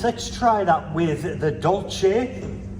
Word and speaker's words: Dolce: I have always pronounced it Dolce. If you disagree, let me know in the comments. But for now, I'm calling it Dolce, which means sweet or dessert, if you happen to be in Italy.